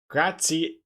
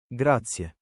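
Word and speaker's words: grazie: Graatia, not E. Gratia. Graatia. Wait. Okay, now I'm curious. I'm cur curious. Uh, thank you in Italian. Gracia.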